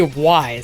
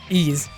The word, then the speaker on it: Ys: as far as ease I used to say why because it's very clearly says why yes but it's actually pronounced ease has is one of those series that has